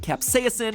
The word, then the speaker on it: capsaicin: chemical capsaicin, and yes, I'm pronouncing it capsaicin because that's how Merriam-Webster told me to pronounce it, even though I have never once heard anyone in my life pronounce it that way.